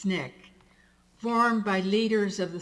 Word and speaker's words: SNCC: student nonviolent coordinating committee sncc pronounced snick formed by leaders of